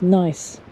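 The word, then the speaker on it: gneiss: great sheets that's just amazing isn't it it's pronounced nice gne iws jules verne stuff really oh i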